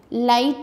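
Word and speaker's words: light: नो में के silent है, इसको अंडरलाइन करें। नाइफ में के। राइट में जी, लाइट में जी, फ्राइट में जी।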